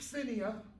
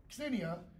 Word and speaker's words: xenia: In Greek, the word xenia, you pronounce the X like a X, xenia, means stranger, foreigner, alien.